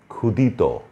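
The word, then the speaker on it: ক্ষুধিত: তারপরে হচ্ছে ক্ষুদিত, এটিও ক্ষীয় দিয়ে লিখেছি আমরা, প্রথমেই ক্ষীয় কিন্তু উচ্চারণ হচ্ছে ক্ষয়ের মতো।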